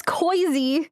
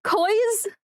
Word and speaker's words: Kozii: Now it's Kozii. Koiz, I guess? Because they started mispronouncing my name. Milo started it. He said my name wrong in a DM, and I outed his ass in my Discord, and then everyone started calling me Koiz.